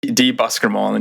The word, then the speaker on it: Buskermolen: Make sure I'm pronouncing this right. Buskermolen, yeah, .com, where he has a blog, kind